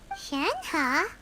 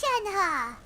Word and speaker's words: Shenhe: like in this demo shanghai shanghai okay yeah i've been pronouncing it wrong there the first few days my name oh so your name is shanha hi man's name is